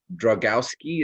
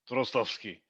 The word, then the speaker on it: Drozdowski: And we're talking now with Dragowski. Is that right? It's close. It's probably should be Drozdowski, but I say Drozdowski. I've said Drozdowski all my life, so. So that's how it's pronounced.